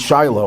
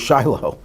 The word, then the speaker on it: Shilo: of Shilo, which they anglicasized to read Shiloh. I don't I I always say this, I never understood why you have to change the sounding of a word. Shilo is just as easy to pronounce as Shiloh, but it's Shilo, not Shiloh.